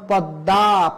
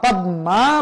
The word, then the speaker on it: পদ্মা: করে বলে দেওয়া হয়েছে যদি ম ফলার উচ্চারণ না হয় তাহলে চন্দ্রবিন্দু হবে যেমন পদ্মা পদ্মা বলা যাবে না পদ্মা বলতে হবে কারণ ম ফালা যার